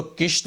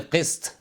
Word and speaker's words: क़िस्त: इस तरह से 13वें नंबर पर जो लफ्ज़ है, इसको किश्त बोलते हैं। किश्त यानी होता है काश्तकारी, किश्त नहीं, इसको बोले क़िस्त। क़िस्त यानी हिस्सा या भाग या इंस्टॉलमेंट, क़िस्त, ये अरबी का लफ्ज़ है।